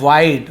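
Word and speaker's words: wide: वाइट नहीं बोलते, वाइट यानी तो सफेद होता है, तो बहुत से लोग कंफ्यूज है, सर वाइट बोलते होंगे, नहीं वाइड है वो।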